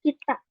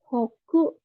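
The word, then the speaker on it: 北: Untuk cara bacanya ada dua, ada tiga. Kita, hoku, dan ho. Tapi ini ho-nya nanti jadi eh, double konsonan ya pembacaannya. Karena di sini ada tsu kecil.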